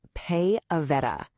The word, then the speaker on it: PayAveta: And this brings us to our final destination, Pay Aveta. Oh, and you'll want to know this. It's pronounced Pay Aveta.